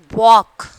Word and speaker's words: walk: And then fourth one, walk. Already we have seen that, isn't it? Sidewalk. L is silent.